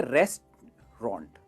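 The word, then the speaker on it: restaurant: इसे कहेंगे रेस्टोरेंट नहीं, इसे कहते हैं रेस्टोरेंट। रेस्टोरेंट, रेस्ट आराम करना, रेस्टोरेंट, that's all, 2 he syllable है, रेस्टोरेंट।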